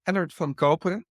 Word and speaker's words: Ellert van Koperen: Um, let me try to teach you a little bit of Dutch. I'm Ellert van Koperen.